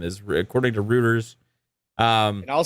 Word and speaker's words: Reuters: there's EU according to how do you say it again rooters Reuters Reuters Reuters yes I always want to say rooters man according to rooters